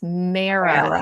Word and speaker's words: MARA: It's Mara.